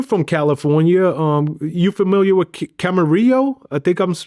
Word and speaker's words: Camarillo: You familiar with Camarillo? I think I'm pronouncing that right. Camarillo, Yeah, California.